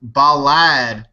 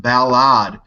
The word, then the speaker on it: Balad: I had a comment this weekend that I was saying Balad wrong. An American that worked at the military base there said, "D-Lake, you said it wrong. It's pronounced Balad."